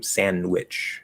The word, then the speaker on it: sandwich: like sandwich no um but the d is not pronounced um sandwich this is end to w sandwich uh thank you for